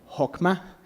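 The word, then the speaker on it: חכמה: y la podemos ver esta palabra se pronuncia como hma se refiere a la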